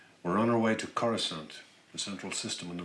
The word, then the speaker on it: Coruscant: I'm used to saying Coruscant, All right. not Coruscant. Coruscant.